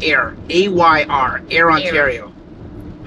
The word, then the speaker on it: Ayr: Ayr. How do you say it? Ayr. Okay, so you said just like Ayr. Yeah, just like Ayr, but instead of an I, there's a Y.